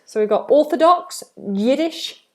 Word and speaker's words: Yiddish: So we have Yiddish, yeah, like you're going to say yes.